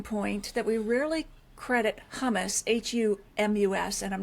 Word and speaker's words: humus: So you make a really compelling point that we rarely credit humus, Humus, and I'm not talking about Tabulian hummus, but that with influencing wine character. So humus, or is it humus?